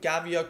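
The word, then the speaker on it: Gavia: actually come on these they're the giant given they're pronounced the giant Gavea course ac-12 bus tires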